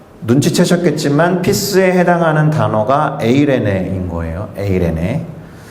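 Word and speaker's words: εἰρήνη: 그리스 말로는 에이레네 휘민이라고 발음되는 문구입니다. 눈치채셨겠지만 피스에 해당하는 단어가 에이레네인 거예요.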